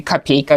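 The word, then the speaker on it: копейка: 3 rubles 60 capes you guys are always pronouncing this word kind of strangely Capa is the word Capi is the plural word and it's kind of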